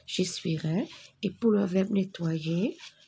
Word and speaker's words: j'essuierai: J'essuierai. Je ne prononce pas le E, pardon. J'essuierai.